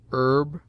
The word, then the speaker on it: herb: It seldom begins any but the first syllable, in which it is always sounded with a full breath, except in heir, herb, ostler, honor, humble, honest, humor, and their derivatives.